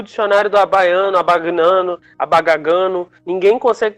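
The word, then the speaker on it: Abbagnano: É abagnano. Eu não sei como se pronuncia, mas é abagnano com 2 Bs e o G mudo.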